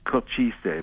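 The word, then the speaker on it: Košice: I am in Cochise, which is, it's pronounced Cochise, but it's spelled Kosice.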